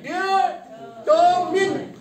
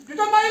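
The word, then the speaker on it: determine: हाँ क्या कहते हैं डिटरमाइन डिटरमिन डिटरमिन डिटरमाइन नहीं है हाँ क्या करेंगे हाँ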